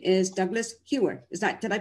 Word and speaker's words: Douglas Hewer: in person but live and his name is douglas hewer is that did i pronounce that right douglas yes well welcome to